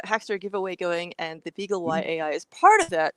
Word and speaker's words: BeagleY: was calling this the Beagley AI. Uh I thought of it as the Beagle Y AI. What do you call it? I say beagle. Why? Um, you know, why? Because it rhymes with pie.